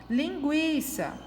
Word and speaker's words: linguiça: Linguiça é uma paroxítona também, porque a sílaba mais forte dela é a penúltima.